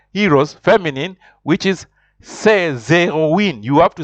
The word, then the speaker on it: héroïnes: It shows that you have to pronounce the vowels separately. For example, here you have to say ces héroïnes. Repeat after me. Ces héroïnes.